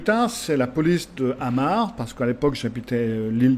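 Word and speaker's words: Amager: aéroport de copenhague il est sur l'île de amar ça s'appelle à m her mais ça se prononce à marc et donc après avoir expliqué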